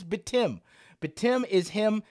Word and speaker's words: Batum: Batum is how you pronounce it. It is official. We all know how to pronounce it now. It is Batum.